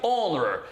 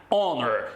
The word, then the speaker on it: honor: inglês, observem a pronúncia, honor. Esse H é um H mudo. Então, nesse caso, você vai dizer an honor e não a honor, tudo bem?